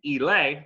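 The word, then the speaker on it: Ehle: been told this is the correct way to pronounce the name elay i've been calling her ellie for years uh jennifer elay from the 95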